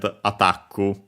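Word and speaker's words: アタック: Attaku, only with the doubling of the consonant, be careful. The additional U, of course, because the K can stay on its own. The accent is just like in English, attack, on the ta, also in Japanese, attaku.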